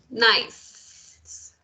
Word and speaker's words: nice: La E al final es muda, entonces, nice. No hay manera de separarlo en sílabas, ¿sí?